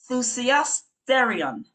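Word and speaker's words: θυσιαστήριον: And not to leave out the Greek renders this word as, and it's a tongue twister, it's thusiasterion. Thusiasterion, and I will spell it.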